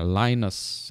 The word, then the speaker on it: Linus: itu yang penemunya tuh kalau saya baca namanya Linus Linus tapi kalau orang Amerika bilangnya lines alien UAS lines kalau